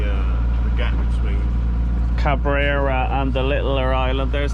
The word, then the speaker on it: Cabrera: plan is to head to how do you pronounce that Island Cabrera Cabrera so about 50 miles away so after the